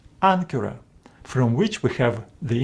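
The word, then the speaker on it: ἄγκυρα: other letters Ka and if Any of these letters follow Gamma this first Gamma is pronounced as n for example in this Word ancura ancura from which we have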